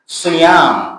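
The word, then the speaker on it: صِيَام: এই as-sawm, সেখান থেকে সিয়াম, সোয়াদ দিয়ে সিয়াম উচ্চারণটা একটু খেয়াল করবেন।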